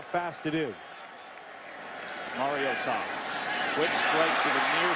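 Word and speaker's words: Mariota: So Marcus Mario to that is how you pronounce the name because mom called from Hawaii Matt and said listen up folks it's Mario Tom. Put a hyphen between that Mario and Tom.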